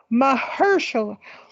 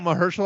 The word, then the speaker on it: Mahershala: Mahershala.